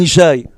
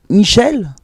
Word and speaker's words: Ishaï: Mon nom de famille c'est Ishaï. Tout le monde sait, Baruch Hashem, que, c'est Ben Ishaï.